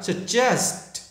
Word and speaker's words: suggest: Thì khi các bạn nói thành chữ là just, chứ không được là guess hoặc là guess gì các bạn nha. Just, đó, nên nói cả chữ là suggest.